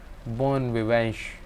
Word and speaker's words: bon vivant: always new the innova born we went to pronounce something like bon vivanche viveng mon viveng and is nasal similar to